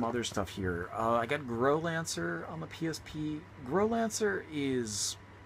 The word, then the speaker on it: Growlancer: And this is, I want to say, this is pronounced Growlancer, not Growlancer, like many people like to say. I can say that with 100% confidence, because the Japanese is clearly Growlancer.